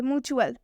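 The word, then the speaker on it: mutual: एक और एग्जाम्पल देखिए, म्यूचुअल, और टी के बाद से UAL दिख रहा है, इसलिए हम इस म्यूचुअल में भी टी का उच्चारण च से करेंगे।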